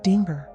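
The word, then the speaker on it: Dingir: He said it was an old Sumerian sign called Dinger. She pronounced it like danger, but with two eyes, and that it meant, like, God or deity.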